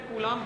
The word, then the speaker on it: Coulomb: B silent है, कूलम पढ़ेंगे, short आप इसको सिर्फ और सिर्फ सी लिख सकते हैं।